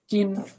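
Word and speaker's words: ك: Calf, উচ্চারণটা কা। কোথা থেকে? জিহ্বার গোড়াটা একটু সামনে বাড়িয়ে তালুর সঙ্গে লাগিয়ে।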